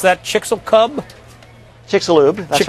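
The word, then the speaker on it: Chicxulub: How do you pronounce that? Chickixel Cub. Chickixaloo.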